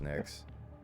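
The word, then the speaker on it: Nyx: in toronto is it knicks or nix it's nix with a y but it's like pronounced next yeah [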